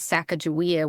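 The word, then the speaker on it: Sacajawea: Even the way we say her name, the Shoshones refer to her as Sacagawea with a J. Growing up, that's how we said her name. That's how we spelled it.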